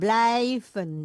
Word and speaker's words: blijven: Sommige, Sommige mensen sommige mensen kijken naar het kijken, bukan kieken, kijken. kijken naar het voorwerp. Betul, oh, terus Anderen blijven binnen. Stop. I sama Y dibacanya I. Jadi kijken, blijven.